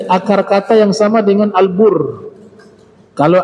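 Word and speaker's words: البُرّ: kalau Marga Albar Bakti bentuk fail Albar huruf bnya panjang ya Albar orang yang berbakti Albar pendek huruf banyak daratan albir perbuatan baik albur gandum semua hurufnya sama hanya cara bacanya ada sedikit berbeda ya Nah ternyata kebajikan itu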